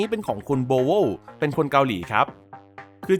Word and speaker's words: BowWow: นี้ เป็น ของ คุณ โบโว เป็น คน เกาหลี ครับ คือ จริง ๆ มัน อ่าน ว่า โบ ว้า อ่ะ นะ ครับ แต่ ผม ขอ เรียก แนว ของ เขา ว่า โบโว หรือ โบโว แล้วะ กัน เพราะ ว่า